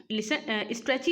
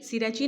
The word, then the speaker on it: Strachey: Liton स्ट्रेची wrote a biography, the name of his biography is. जो Liton स्ट्रेची हैं, स्ट्रेची होना चाहिए ये, वैसे सिरेची नहीं, लिटन स्ट्रेची होना चाहिए।